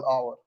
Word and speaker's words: Aouar: Aouar. Yeah, Aouar. Aouar, like that.